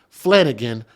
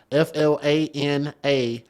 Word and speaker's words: Flanagan: Jurors deliberated for hours before returning the verdict in the trial of Deon Trey, it's spelled exactly how it sounds, Flanagan, Flanagan, in downtown Houston.